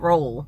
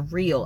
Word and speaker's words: Roehl: Is it Real? I know it's not Roll. I know, like, they on one of their ads, that's who you're talking about. ROEHL, but it's like pronounced Rail or Real. I think it's Real, but I'm not positive.